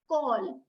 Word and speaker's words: call: pronounced as Cur when it is followed by letters other than e i or Y all right that's why we call it as call because here C is